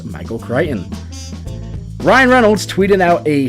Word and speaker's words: Michael Crichton: Quick hat tip to Travis for teaching me how to pronounce Michael Crichton.